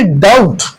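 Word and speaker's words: doubt: यहां पे देखिए डाउट डाउट में अगर आप चेक कर ले बी जो है ये क्या है? साइलेंट है।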